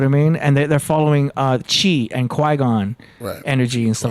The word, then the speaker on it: qi: Yeah, it's Chi energy, and that's spelled QI.